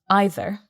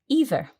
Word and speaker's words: either: So what I noticed here was you, Mark, you pronounce the word either, as you did. Mm-hmm. Naturally, I would pronounce this word either. Okay. And that's absolutely fine. Some people say either, some people say either. It's like the song. You say either, I say either, let's call the whole thing off.